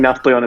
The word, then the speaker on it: Nafplion: Yeah, I think Nafplion is how they say it and Nafplio is how English say it.